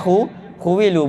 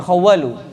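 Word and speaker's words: خُوِّلُوا: Bil bina ilil majhul, khuwilu, bacanya khuwilu bukan khawalu.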